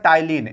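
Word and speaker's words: ptyalin: हैं एक होता है तिल यहां टी पी लगा है ना तो पी नहीं पढ़ा जाता है पी साइलेंट राहत है यहां पर तो एक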